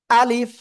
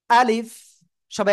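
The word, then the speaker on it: ألف: ঠিক আছে আলিফ আলিফ আলিফ সবাই একসাথে জোরে জোরে বলেন আলিফ আলিফ আলিফ আলিফ অনেকে উচ্চারণ করতেছেন এরকম আলিফস আলিফস এরকম বলা যাবে না ঠিক আছে আমি আবারো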